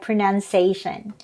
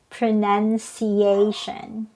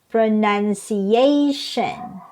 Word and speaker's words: pronunciation: my english learning journey i found out that this word is pronounced as pronunciation so it has five syllables from pronunciation so it's not pronunciation okay there are five syllables and the stress is on the fourth syllable pronunciation okay and these